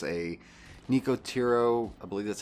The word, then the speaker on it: Nicotero: It's a Nicotero, I believe that's how you say it, Nicotero.